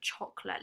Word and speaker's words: chocolat: Oh, my favourite chocolate. Let's see what this is pronounced like. We can see the sh and the t. But do we pronounce the t? We don't, do we?